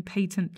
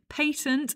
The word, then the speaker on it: patent: You may also be involved in patent licensing and settlement negotiations. A quick note on pronunciation: patent is the English pronunciation, patent is the American pronunciation.